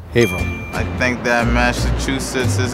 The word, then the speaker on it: Haverhill: It's not Hay-vrull, it's Hay-vrull.